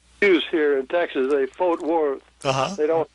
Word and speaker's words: Fort Worth: sounded like Ornette was singing, "I'm going to Fort Worth." and that's the pronunciation that use here in Texas. They Fort Worth.